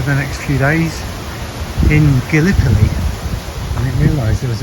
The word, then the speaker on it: Gallipoli: It seems I pronounced the name of the town wrong. The locals call it Gallipoli, which means beautiful city.